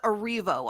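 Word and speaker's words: Erivo: out for the record it's cynthia arrivo i'm sorry i mispronounced her name cynthia reppa got it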